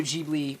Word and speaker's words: Ghibli: I've watched at least one Studio Ghibli film.